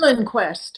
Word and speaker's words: Liljenquist: Oh, It's Lillenquest. Okay. Yeah, it's like Liljenquist. So it's spelled not quite phonetically, but but he is